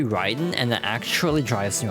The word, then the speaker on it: Raiden: Like, Mortal Kombat pronounces it Raiden when it's supposed to be Ryden and it actually drives you over the wall.